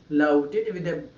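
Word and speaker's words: loaded: Whenever you find DED at the end of any English word, that DED must be pronounced like DID. It's not dead, it's a did. Louded with beer bottles overturned.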